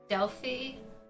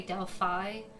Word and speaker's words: Delphi: I would call her Delphi. I know others would say Delphi because that is the traditional way of pronouncing the name.